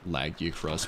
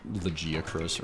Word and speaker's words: Lagiacrus: I I'm so vindicated that in the in the cutscene for Lagiacrus they pronounce his name Lagiacrus, which is what I've said the my entire life. Not Legiacrus or Lagiacrus.